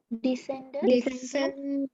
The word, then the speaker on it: descended: Descended.